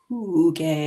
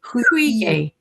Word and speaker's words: hygge: it, and she said you have to make the sound of oo. No, you make the sound of e, but in the lip pattern of oo. Ooh, hui, hui, Hygge.